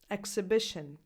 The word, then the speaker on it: exhibition: Expert, extra, explode, exhibition. The second sound it can have is this one. Examples: exhibit. See? Exhibition from the previous list has a X sound, but exhibit has a X sound.